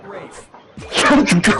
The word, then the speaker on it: Ralph: Yep, Rafe Fine's first name is spelled like Ralph, but pronounced Rafe.